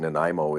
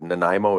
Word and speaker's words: Nanaimo: It's they may not necessarily look at the name Nimo and understand exactly how to say it quickly initially, but Nanaimo is how you say uh Nan A.